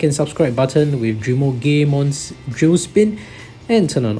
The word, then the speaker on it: Drimogemon: we have Drimogemon, or that's the Japanese pronunciation of the name, but some English pronunciation will call this Drimogemon or Drimogemon, but I think that GE probably we should pronounce it Ge. So anyway, it is derived from a Japanese name after all.